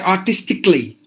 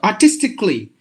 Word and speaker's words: artistically: words what we do we pronounce all the A's but this this island is a so you have to say artistically basically not basically biologically genetically grammatically so that means and also any word with the uh double consonant two consonants together one of them is silent so you have to say clean so artistically frantically genetically grammatically graphically simple you just have to drop the a sound for all these words